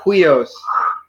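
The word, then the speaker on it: υἱός: So it's like hui, huios. Huios.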